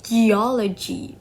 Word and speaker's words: geology: And then geology. The suffix logi causes the stress to move the to the syllable before it. So geology. Okay.